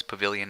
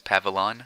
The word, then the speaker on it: pavilion: middle it's just great sometimes people pronounce pavilion as pavulon it's not right I'd be curious to